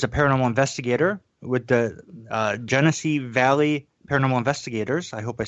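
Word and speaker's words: Genesee Valley: Okay, and is that Genessee Valley? Yes, Genessee Valley Paranormal Investigators.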